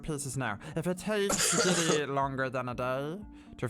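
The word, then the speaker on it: Gidi: I'm Scholar Giddy. G-I-D-I. Scholar Giddy.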